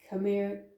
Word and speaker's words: Khmer: like what was it i know how to pronounce that like come here come here camera empire